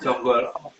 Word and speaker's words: Janggala: Lebih tepatnya Jonggolo. Jadi Jonggolo. Jadi dari dalam penulisan Janggala itu huruf A itu kalau orang Jawa bacanya O.